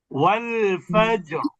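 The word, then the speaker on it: والفجر: ফাজর ফাজর এখন আপনি যদি বলেন ওয়াল ফাজর ফাজর ফাজর তাহলে কিন্তু পাতলা হয়ে গেল ওয়াল ফাজর রটা মোটা ওয়াল ফাজর আসরুশু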